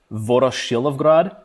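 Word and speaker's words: Voroshilovgrad: so uh I will recommend a book called VOR shrad um I'll even spell it out because I know it's a it's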